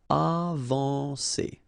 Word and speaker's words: avancer: Okay, when you combine A and N, you get the nasal en, avancer.